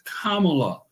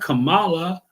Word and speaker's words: Kamala: her name on purpose it's Kamala not Kamala I'm not came I